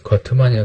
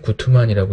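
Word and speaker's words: Guttmann: 이제 거트만이라고 되는데 구트만이라고 읽죠.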